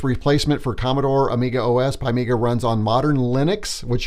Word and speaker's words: PiMiga: love it because he tells us it is pronounced pie Mega there's there's no a uh uh so that's kind of fun it says find me is an emulated workbench replacement for Commodore Amiga OS pymika runs on Modern Linux which you're gonna see